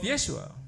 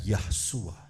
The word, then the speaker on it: Yeshua: dan sudah ada unsur nama Yesua, Also there is the name of Yeshua. bukan Yahsua.